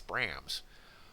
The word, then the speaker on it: Brahms: Uh, I've always liked the fact that they pronounce it Brams in the game and in the, uh, movie because that feels like such an American thing to do.